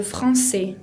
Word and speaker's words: français: Français tiene esa C con cedilla característica del francés que se pronuncia como una S, y la S final no la pronuncio.